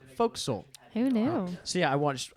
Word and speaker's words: fo'c'sle: the word fo'c'sle incorrectly that's the word that looks like forecastle and it's pronounced fo'c'sle hey now see I